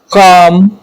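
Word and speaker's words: calm: knife knowledge silent F के एम से पहले आने वाला ल साइलेंट होता है जैसे काफ वाक या काम बाम पाम ये सारे एल क्या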